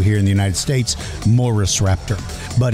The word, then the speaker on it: Murusraptor: like we do here in the United States, Murusraptor. But its true pronunciation is Murusraptor.